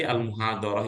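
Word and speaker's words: المحاضرة: objek itu Maul Bih Maul Bih itu mansub berarti almuhadarah itu bacanya almuhadar nah gitu kan kemungkinan-kemungkinanuih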